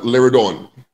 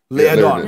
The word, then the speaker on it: Liardon: Am I pronouncing it right? Is it Liardon? Liardon. Liardon.